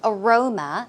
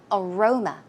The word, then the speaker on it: aroma: night before right so Aroma as you can see the stress goes on the second syllable aroma aroma some synonyms are